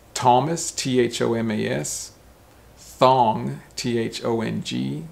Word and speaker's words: Thomas: which is interesting because a th sounds like a t sound it's not thomas no or thomas or thomas it's thomas so that's very different